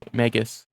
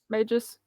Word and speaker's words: Magus: Magus. Yeah. I did actually Google that word to make sure I said it right. Magus.